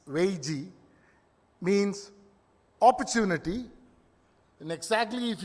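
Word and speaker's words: 危机: But this is a Chinese word, Weiji, for crisis. And it actually comprises of 2 syllables.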